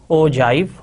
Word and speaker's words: ogive: So ogive is pronounced as ogive and it rhymes with alive.